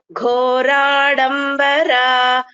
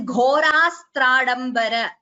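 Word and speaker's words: घोरास्त्राडम्बर: Triambaka Samadhika Ghaura Shastrambara Sarathi Ghoradambara Sarathi. Bhagini, just a second, that word is not being pronounced properly. It is Ghorastradambara.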